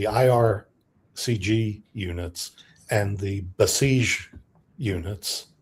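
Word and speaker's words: Basij: CG units and the Besiege units. Did I pronounce that properly? Yes. Besiege. Yes.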